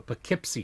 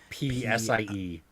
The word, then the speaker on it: Poughkeepsie: It's called the Poughkeepsie Tapes.